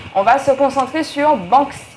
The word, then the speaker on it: Banksy: On va se concentrer sur Banksy. Banksy, j'ai toujours du mal, hein. Ça s'écrit B-A-N-K-S-Y.